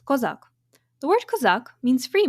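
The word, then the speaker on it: козак: In Ukrainian, it is pronounced Kozak.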